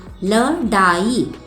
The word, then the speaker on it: लड़ाई: बिंदी ही नहीं है, ल डाई, तो ये तो शब्द ही गलत है। इसीलिए अब इसके नीचे हम बिंदी लगाएंगे। डा के नीचे बिंदी लगाई तो इसका उच्चारण हो गया लड़ाई, लड़ाई।